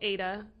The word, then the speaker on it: Ede: So, the town's called Ada, EDE, in Netherlands. Yeah. Ada. Yep. I think we can, as Oklahomans. We can pronounce it. Yeah. It's spelled a little different, differently, but we can say it.